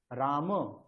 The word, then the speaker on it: রামঃ: তাহলে আমরা যদি বলি রাম গচ্ছতি, রাম গচ্ছতি, এটা আমরা বিসর্গ দিইনি, বিসর্গ উচ্চারণ করিনি, রাম গচ্ছতি, এটা কি বাক্যটা কি ঠিক? ভুল হয়ে না যাবে। স্যার, ভুল হয়ে যাবে, কারণ রাম শব্দের প্রথম আর একবচনে কি হয়? রামঃ।